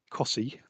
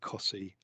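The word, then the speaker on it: Costessey: welcomed in terms of cossie sorry yeah in terms of there's it's inevitable it's going to happen it's the most the most unusually pronounced place locally i think but in terms of cossey um i have no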